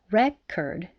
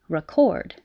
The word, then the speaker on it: record: just moves the stress the word record has stress on the first syllable if it's a noun record record and it moves to the second syllable if it's a verb record record so if you're putting